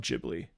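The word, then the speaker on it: Ghibli: my buddy is it gibli J jibli it's jibli um it's pronounced GIF GIF um neighbor todoro I watched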